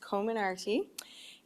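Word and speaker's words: Comirnaty: i actually looked it up and it is pronounced common arty and uh the name actually comes from several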